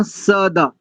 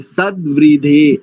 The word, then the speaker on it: सद्वृधे: वेद साम सदा, सदा नहीं करेंगे, दा में तो हलंत लगा है, सद्व्री, इसलिए हमने इसका कई बार उच्चारण किया था। वेद साम सद्व्री, सद्वृधे, सद्वृधे ऐसा होगा, ठीक है।